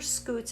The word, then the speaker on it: scutes: But those are scutes, and they help them to scoot along the ground, but the word is spelled different. It's S-C-U-T-E.